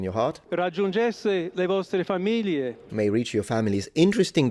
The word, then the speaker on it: famiglie: Or you pronounce it the northern way, which is an L, familie.